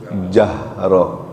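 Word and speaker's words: جهر: Kalau H besar tu tenggorokannya bergetar. Jahroh. Kalau H kecil tenggorokannya enggak bergetar. Jahro. Keluar udara agak baca jahro. Tapi dibacanya jahro pakai ha besar.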